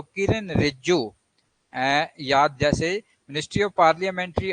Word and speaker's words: रिजिजू: तो किरण रिज्जू, याद, जैसे मिनिस्ट्री ऑफ पार्लियामेंट्री अफेयर जो है वो किरण रिज्जू के पास, श्री किरण रिज्जू के पास, रिजिजू, सॉरी मैं गलत बोल रहा हूं तो प्रोनाउंसिएशन रिजिजू, ये इनके पास है।